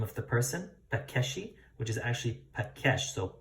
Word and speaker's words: Pakeshi: So Pakesh, that's how it's pronounced, Pakesh.